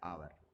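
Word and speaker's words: hour: अब आप इधर देखें एच ओ यू आर, इसमें अगर आप देखें तो आपके पास है तो एच, लेकिन एच साइलेंट है और आवाज़ जो है आर, इसको आर कहते हैं, ठीक है जी, या आवर।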